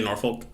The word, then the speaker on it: Norfolk: this one takes place in norfolk england is how you say it i didn't say norfolk but you can also say norfolk north okay it really kind of runs people in different areas say different things a lot of accent